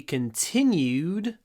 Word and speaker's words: continued: The story will be continued tomorrow. А когда вы говорите continued, попробуйте в конце вот делать в, достаточно, подлиннее. Да, ударение на тин, но все равно.